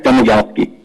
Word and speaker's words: Domagalski: a question for Mr is it uh do domagalski is that how am I pronouncing that correctly do doski yeah domalski that's fine all right yeah I